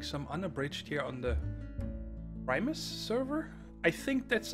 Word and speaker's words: Primus: uned here on the Primus server I think that's how I'm supposed to say it Primus I was told today that I've been saying pris and that is wrong so oh well that's